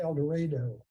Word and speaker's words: El Dorado: University of Kansas and it's in Kansas it pronounced El Dorado a little about